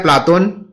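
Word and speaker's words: Πλάτων: प्लेटो जो शब्द है वह अंग्रेजी भाषा का शब्द है। इसका यूनानी उच्चारण होता है प्लाटोन, जो अरबी में अफलातून बन जाता है।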